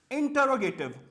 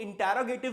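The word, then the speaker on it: interrogative: इसके अलावा इंटरोगेटिव, इंटरोगेटिव में, अच्छा इसकी प्रोनाउंसिएशन को लोग इंटरोगेटिव भी कहते हैं, लेकिन करेक्ट और एक्चुअल प्रोनाउंसिएशन है इंट्रोगेटिव।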